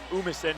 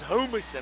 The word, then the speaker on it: Humison: It's Umison. The H is silent. Oh, my bad. Hey, when you're from where I am, it's Humison, all right?